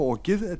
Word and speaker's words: Ok: upp á okið til að gefa út dánarvottorð fyrir jökullin.